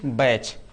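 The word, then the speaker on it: batch: बैच।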